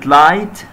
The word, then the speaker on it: light: بيكونوا الاثنين silent، مش هننطقهم، يكتبوا ولكن لا ينطقوا. زي كلمة light، هنا نلاحظ i g h i g h